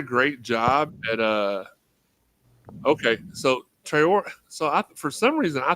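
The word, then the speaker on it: Traoré: It's Trey Ori, not Triori.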